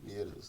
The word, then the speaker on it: Mieres: Asturias, Mieres.